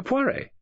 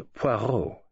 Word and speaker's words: Poirot: Monsieur Poiret." "Monsieur Poirot," he corrected her with an emphasis on the last syllable.